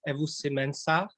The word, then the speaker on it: Ewusi-Mensah: pronounce your name so correctly please if i pronounce wrongly but david evo simensa is it correct you did a great job